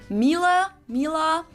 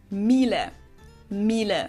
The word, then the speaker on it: Miele: wrong in English, but English native speakers usually say something like Miele, Mila. So it usually sounds more like an A in the end, whereas in German we say Miele, Miele.